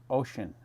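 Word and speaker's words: Oisín: Lol, my name's Irish and is pronounced Ocean.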